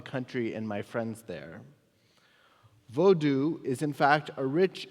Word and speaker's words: Vodou: he wrote specifically that the religion of vodu which is sometimes pronounced Voodoo by Outsiders is to blame he